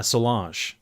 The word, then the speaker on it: Solange: Anyhow, so I almost got to see Solange. Or Solange? Solange.